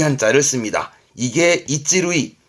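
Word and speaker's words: 一塁: 이게 이찌루이, 발음은 이찌루이.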